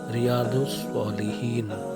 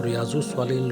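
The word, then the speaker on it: رياض الصالحين: Book reviews में आज जो बुक हम लेके आए हैं वो है रियादुस्सालिहीन। इसको रियाजुस्सालिहीन लोग बोलते हैं, रियादुस्सालिहीन। लौत का प्रोनाउंसिएशन सही से होना चाहिए।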